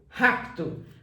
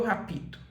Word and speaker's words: rapto: eu falava sobre isso cuidado com o PT porque se tiver o pé mudo você tem que tomar cuidado com ele por exemplo o verbo raptar no presente do indicativo você fala eu Rapto você nunca vai falar eu rapito e a mesma coisa